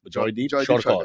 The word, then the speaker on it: Jaydeep Sarkar: Let's pronounce it properly. Jaydeep Sarkar.